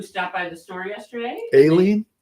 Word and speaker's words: Aileen: Aileen, Aileen. not Eileen. Well, I think she said Eileen, but she specifically said I spell it with an A.